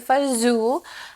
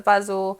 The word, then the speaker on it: fagioli: U for the most part it's called pasta FAO um no I did not misspell the caption there's no z in it but that's how it's pronounced in most places especially where I grew up pasta Fu um you've heard it some people call Pasta